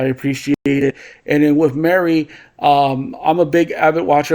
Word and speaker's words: Mari: So different people have different pronunciations for the name. Now that I watched it, now that I see it, okay. Mary.